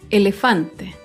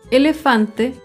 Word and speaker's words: elefante: Elefante. Elefante se acentúa en la penúltima sílaba, pero no lleva tilde porque termina en vocal.